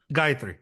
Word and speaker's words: Gayatri: How do you pronounce this? Gayatri? Gayatri.